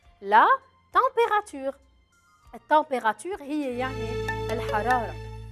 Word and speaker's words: température: Le E à la fin, je ne le prononce pas trop. Je ne vais pas le dire. La température.